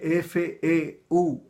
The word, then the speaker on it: Feuerbach: Se escribe F-E-U-E-R-B-A-C-H.